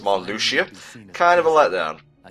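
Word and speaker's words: Marluxia: right real talk for the longest time I thought it was pronounced Malia and that's just the name I have in my head so when we get to it and I find out it's pronounced Mal Lucia kind of a let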